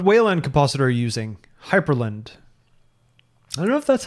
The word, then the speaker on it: Hyprland: Hyperland. I don't know if that's how you pronounce it. Hyperland? It's Hyprland. There's no E. And it's very frustrating because the command for configuring Hyperland is hyprctl, like hypercontrol.